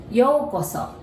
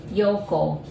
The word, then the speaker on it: Yōko: yoko and so so in japanese though we actually write it like you in a japanese character but they're all you there so you pronounce it like o but you know this seems very confusing so to make it easier we just put the bar there yo so if you